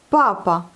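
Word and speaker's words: папа: Papa. Vous voyez, c'est accentué sur la première syllabe. Donc papa. Non pas papa, comme en français, mais papa. Eh bien, en français, c'est papa.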